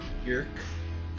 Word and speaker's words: Björk: I did learn that the name is technically pronounced Björk, like the word jerk, but with a B in front of it.